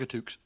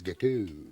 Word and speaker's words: gâteau: think you'll find it's gâteau. Gâteau? Yeah. Oh, I see, Yeah, right. the X is silent.